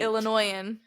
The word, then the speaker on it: Illinoisan: Illinoisan. But you say it right. Illinoisan. There's still a little S in there. I'm an sitting there Illinoisan. Minding its own business.